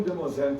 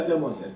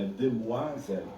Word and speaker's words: Demoiselle: Aí o garotinho, sabe, quando eu falei, tem um Demoiselle também, o garotinho, não é Demoiselle, é Demoiselle. É Demoiselle. Ele é francês, é ótimo.